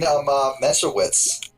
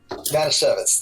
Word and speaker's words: Manischewitz: You're the fucking dude who put like a fucking Messerwitz. I'm pronouncing it wrong. A recipe in the Xenosaga Let's Play. Oh, the Manischewitz, yes. Manischewitz, that's it.